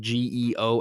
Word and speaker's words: Geoff: Same thing like Jeff, but you spell it Geoff.